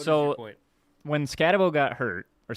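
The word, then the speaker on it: Skattebo: When Scatabo got hurt, or Scattaboo, I think is how you pronounce it.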